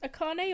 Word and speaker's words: Akane: mine is uh helen would wanna be pronounced akane or akanee uh akane okay my name is akane